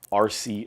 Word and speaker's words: Arce: also follow me on instagram it's uh mike rc live my last name is spelled a-r-c-e so mike rc live and i'm